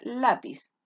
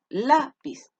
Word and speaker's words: lápiz: si lleva tilde ya lo mismo pasa con la palabra lápiz a la pista tiene dos sílabas se carga la voz acá en la lápiz ya es una palabra graves y porque se carga la voz en la penúltima fila y en qué letra